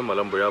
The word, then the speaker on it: Malampuzha: मलम्बुझा का स्पेलिंग ये है लेकिन प्रोनाउंसिएशन में मलम्बुझा बोलते हैं मलयालम में.